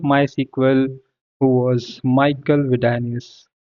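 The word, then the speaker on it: Widenius: SQL who was Michael vidus sorry if I pronounce it wrong uh I think we call it as like Michael VI danus so the daughter of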